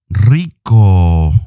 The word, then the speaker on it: rico: she is rika now if you struggle pronouncing the rs in spanish like you can always say rica or rico some spanish countries pronounce the r a little bit softer violeta is rica violet